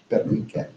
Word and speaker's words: Pernice: And In German, it should be read like that, Pernice. But it should be. It's a rule. But in fact, we never heard it pronounced by the late 19th century Germans.